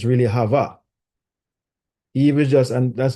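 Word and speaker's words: חוה: It's really Hava. Eve is just, and that's another story, but Eve is just the Englishized version of that name, Hava.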